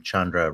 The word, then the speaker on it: Chandra: It It's uh rhymes. Yeah. It's like rhymes with abode and the last name Chandra rhymes with tundra.